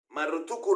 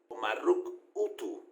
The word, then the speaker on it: Marrutukku: Marrutuku representa muchísimas cosas hasta el día de hoy. Marruk Utu es la pronunciación probablemente antigua del nombre Marduk.